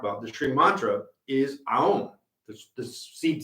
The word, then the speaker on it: Aum: the Shri mantra is Aum, the seed syllable. It is the primordial sound that begins the universe and dissolves it. And it's not Om, it is a full set. Aum.